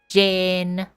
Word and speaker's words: Jane: name is Jane right in Thai for it to be pronounced correctly you have to say it specifically in the tone of jen you can't you can't